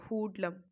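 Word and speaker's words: hoodlum: ठीक है, हुडलम, सॉरी इसका प्रोनाउंसिएशन है हुडलम।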